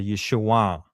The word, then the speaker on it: Yeshua: down but uh the proper way to say it at that time is a nasal back sound and it's a downward. It's a Yeshua. It goes through your nose and down.